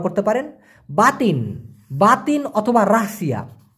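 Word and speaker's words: rahsia: আপনারা এটা ব্যবহার করতে পারেন বাতিন বাতিন অথবা রাহসিয়া রাহ সিয়া উচ্চারণটা হবে রাহসিয়া এই রাহসিয়া মানে হচ্ছে গোপন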